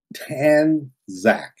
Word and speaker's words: Tanzak: Tanzak. Okay. Tanzak. Tanzak. Like Zach from Saved by the Bell, but you want him tan.